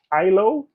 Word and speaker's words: IHLO: you think of uh ISO? I know they have an H. It's I H L O. But I think the H is Silent.